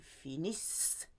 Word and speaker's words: finissent: Il, elle finissent. Silent ENT.